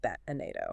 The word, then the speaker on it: Batnado: Segment three, the Frio Batnado. And yes, for the record, I am pronouncing that bat anado.